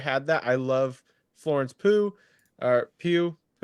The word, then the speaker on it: Pugh: How do you pronounce her last name? Pugh? I think it's Pugh, but I'm going to start pronouncing it Pugh from now on. Pugh. I heard it in an interview pronounced Pooh once, and I was like, maybe really it is.